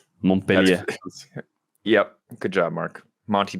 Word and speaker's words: Montpellier: If you speak French, I'm sorry if you're personally offended by that. We've just had a million people correct our pronunciation, so I'm just inclined to pronounce it worse every time.